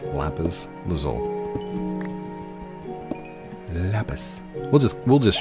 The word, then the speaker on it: lapis lazuli: And that takes enchantment and lapis lazul or as my daughter says, lapis lazuli. No, no, no. You said it wrong. It's lapis lzole.